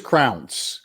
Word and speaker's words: Crounse: But I think it is Crounse. Crounse? It's pronounced like it sounds, because Stephen Thrower on that interview on that disc also has the same.